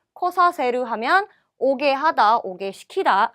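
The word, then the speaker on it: 来させる: 자, 그 다음에 쿠르는 발음이 코로 바뀌니까 발음 주의하시고요. 코사세르 하면 오게 하다, 오게 시키다 라는 말이 되겠네요.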